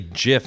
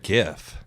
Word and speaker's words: GIF: Or not pronounced it with a J.